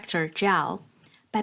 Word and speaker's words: 曌: and for that she created a new character 曌（pronounced as Zhao）by putting together the characters representing the sun 日,